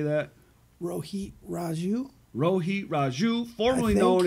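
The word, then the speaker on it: Rohit Raju: former midwest champion how do you say that Rho Heat Raju Rho heat Raju formerly known as Hakeem Zane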